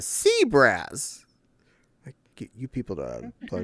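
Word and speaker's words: CBRAS: It's C-B-R-A-S. And that's a sea brass.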